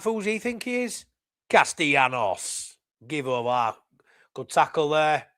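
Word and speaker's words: Castellanos: Formula prog let's not say that my mate Duncan Hamilton evening mad a double ll in Spanish is pronounced like why so it's castanos there you go I'll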